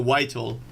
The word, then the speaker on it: Vital: What you say, Vitally? Vitally? No, Vital. You mean the plugin? It's called Vital. I think that's how you pronounce it.